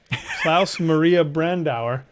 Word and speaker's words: Klaus Maria Brandauer: I've got Don Ameche and cocoon Klaus Oh Klaus Maria Brandauer very good out of Africa and that pronunciation by the way is perfect spot on